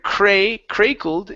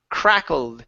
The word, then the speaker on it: crackled: great fire crackled okay instead of cray-cray cold it's a crack crackled and soon a great